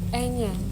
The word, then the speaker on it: Enya: anya it's not your original name yeah it's anya it's either there but it's pronounced and yeah i know but it did